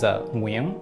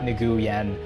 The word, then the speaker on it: Nguyen: The correct way to say it, the Vietnamese way to say it, is Nguyen. And we say last name and then first name. I won't go over my entire Vietnamese name, but it's monosyllabic, so that's the important thing to know there. It's not Nguyen, it's just one syllable.